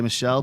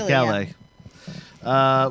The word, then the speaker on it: Michele: You like how I didn't say Michelle because he's Italian in There- Italy. it is in That's Italy, Michele.